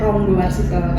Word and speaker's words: Ranggawarsita: museum ranggawarsi t He kalau penulisannya ranggawarsita tapi kita membacanya ronggowarsita kalau sejarahnya itu museum